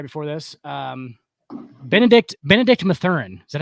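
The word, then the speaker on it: Mathurin: talked about right before this um Benedict Benedict matheran is that how you say it uh Benedict matheran matheran okay yep absolutely rookie rookie four it's not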